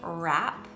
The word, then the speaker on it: wrap: wr the first is spelled w-r-a-p and it is pronounced rap and this is when